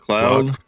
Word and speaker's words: Claude: Claude? Cloud? Claude. How do you say it? Oh, I say Claude.